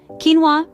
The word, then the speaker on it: quinoa: Quinoa, pronounced quinoa, is a complete protein, containing all 9 essential amino acids.